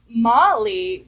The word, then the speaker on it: Molly: So for me, Molly was about, okay, it rhymes with Polly, so it's a little